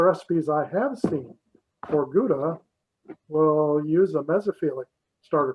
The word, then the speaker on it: Gouda: course you know in in the us we pronounce it gouda when i believe in holland they pronounce it howda but uh you know